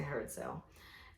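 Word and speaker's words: Herod Sayle: Is that how you pronounce it? Yeah, Herodsayle. Herod Sale. So I say Herod Sale.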